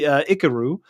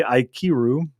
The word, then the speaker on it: Ikiru: So I got to see Ikaru, which I had yet to see. Really phenomenal. If I'm pronouncing that correctly, Ikiru.